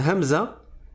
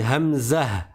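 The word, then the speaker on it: همزة: La hamzah, on dit pas hamza. Si vous m'entendez dire hamza, sachez que c'est une erreur. C'est diale, c'est du dialecte. Mais normalement, on dit hamzah.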